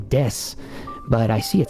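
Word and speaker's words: です: me show you here this u just like i'm explaining right now is usually not pronounced either um and i have to be careful with the way i explain that because it's not fully left unpronounced but if you're not a native speaker or fluent yet you're going to have a hard time hearing when people are actually pronouncing or not so what are you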